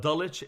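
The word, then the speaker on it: Dulwich: you mentioned through a British school system called dulich International adulics is spelled d-u-l-w-i-c-h and and dalicha I had a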